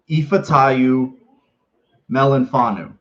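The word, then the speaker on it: Ifeatu Melifonwu: say his name i'll say it for you ifa tayu melanfanu you know how i know why i know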